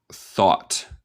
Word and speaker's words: thought: En inglés neutral, thought. Thought. En el acento estadounidense hacemos lo que llama un glottal stop por el T. Básicamente comemos el T.